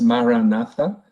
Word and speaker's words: maranatha: meditation community uh it's pronounced maranatha and maranatha is an aramaic word so aramaic is the